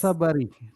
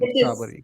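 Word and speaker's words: Tsabary: Tasabari? Yes, it's Dr. T-S-A-B-A-R-Y. Shefali Sabari, yes. Sabari. Okay, T is silent. Sabari.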